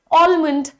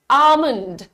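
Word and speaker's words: almond: कह रहा है कि ए एल एम ओ एन डी तो क्लियर है कि हम इसको प्रोनाउंस करेंगे आलमंड आलमंड कुछ इस तरीके का प्रोनंसिएशन होता है बट आपको बता दूं कि इसका प्रोनंसिएशन आज से ही आपको चेंज कर देना है जी हां बहुत ही अच्छा कुछ लोगों ने बता दिया यहां पर this is pronounced as आमंड हाउ ड यू प्रोनाउंस इट आमंड तो आपको एक और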